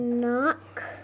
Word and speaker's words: knock: know that one yet K and N is like is it's it's the K is silent so then if the K is silent yep not knock yep not not not yep so there are two